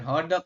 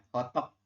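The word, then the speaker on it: 호떡: ho hodok hodok hotok hotok bukan hodok hotok ini kalauang dig bacanya hotok Oke kemudian nomor 7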